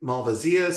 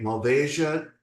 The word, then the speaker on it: Malvasia: some people say malvasia some people say malvasia you know like there's every different um pronunciation of the word malvia and they're all correct because it's it's from every different dialect and every different you know all the different nations as well so whenever somebody says